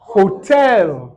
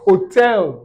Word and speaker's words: hotel: Hotel. Hotel. Un dernier exemple. Wait. Hamburger. Hamburger. Je veux un hamburger. Eux vont dire hamburger. Hamburger. Donc, c'est ça. En anglais, les H sont prononcés, contrairement au français.